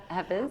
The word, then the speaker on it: Hafiz: It's a beautiful quote by, I'm so sorry, I'm going to mispronounce the name. H-A-F-I-Z? I can't see that. Hafiz?